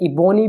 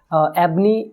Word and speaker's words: ebony: एबनी भी बोलते हैं, इबोनी भी बोलते हैं। और एबनी, इबोनी और एबोनी, तो कोई भी आप बोल सकते हैं। जो लोकेशन एरिया वाइज होता है वो तो हर एरिया में थोड़ा अलग अलग प्रोनाउंस करते हैं वर्ड।